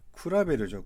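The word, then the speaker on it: 比べる: 뭐라고 읽죠? 쿠라베르죠. 쿠라베르.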